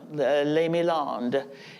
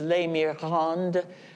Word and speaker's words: Les Milandes: And here's her chateau, Les Milandes. It was originally, historically, it was Les Mirandes, but she couldn't pronounce the French R in the middle, so it became Les Milandes.